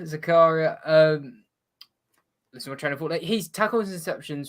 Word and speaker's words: Zakaria: sure because he Swiss I pronounce it German way but that doesn't necessarily mean that's the true way so you say however you want uh is Zachariah Zakaria um he's tackled his